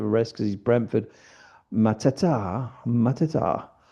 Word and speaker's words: Mateta: Mateta. People say that Paquetá doesn't rhyme with Mateta, but it does if you pronounce them in French and Portuguese properly.